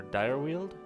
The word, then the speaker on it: Dyrweald: here for some reason the deer uh deer wheeled or dire wheeled dire wheeled yes oh right i named it that because um because of the like pronounced number of dire animals that live in this region that's right dire wheeled but i sold it with a y to you know make it seem more uh fantasy i guess or old